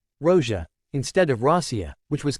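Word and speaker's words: Россия: state name of K Russ which is now pronounced Rosia Rosia instead of Russia which was common in VIs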